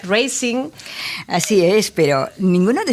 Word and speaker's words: Racing: Gijón, Racing de Santander, que en realidad se pronunciaría Racing.